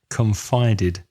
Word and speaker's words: confided: Another word similar to that is confide, confided.